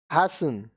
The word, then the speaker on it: hasten: अब देखिए यहाँ पे T साइलेंट. Hasten, जल्दी करना.